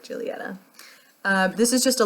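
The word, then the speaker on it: Giulietta: is correct it is Julieta but it's spelled g-i-u-l-i-e-t-t-a in my American accent I would pronounce this gileata but I think it's actually pronounced like Julieta uh this is just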